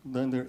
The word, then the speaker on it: dunder: is the dunder uh Dunder EQ so Dunder is how we pronounce underscore underscore xcore uncore right so